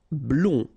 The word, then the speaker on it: blond: Blond. Final D not pronounced.